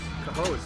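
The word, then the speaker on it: Cohoes: a Caro or whatever what's c-o-h-o-e-s the hose yes who knows how to spell that way and isn't there like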